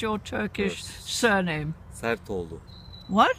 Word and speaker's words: Sertoglu: Can you please pronounce your Turkish surname? Sertoglu. What? Sertoglu.